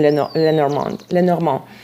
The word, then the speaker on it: Lenormand: It's more natural for me to pronounce it in French than Lenormand.